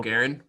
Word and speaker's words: Guerin: So their GM, but I can't even pronounce his last name. Bill Guerin.